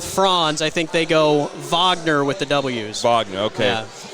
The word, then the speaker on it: Wagner: they could do um i think we pronounce it wagner by the way yeah it's kind of like the uh the ufc brazilians with the r the rs or h's you know the hard re instead of rodriguez in america you